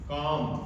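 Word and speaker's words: calm: इसी तरह से काम पाम देखिए एल के बाद में एम आ रहा है। काम मतलब शांत रहना। पाम मतलब हथेली तो इसमें भी हमारा एल साइलेंट रहेगा।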